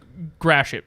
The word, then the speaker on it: Gratiot: In downtown Detroit, one of the big streets is spelled that same way, but they call it Gratiot, and it's very funny.